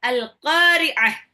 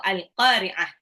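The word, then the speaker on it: القارعة: menakutkan hati manusia itu alqah ya oke oke kita ulang ayat 1 dari surah alqariah ingat ya bacanya qah pakai Ain ya alqahqah alqah ini artinya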